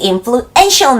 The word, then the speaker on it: influential: The most in으로 the most in, the most in, the most influential man, the most influential man.Ential로 바로 SH 발음으로 넘어가는 거예요.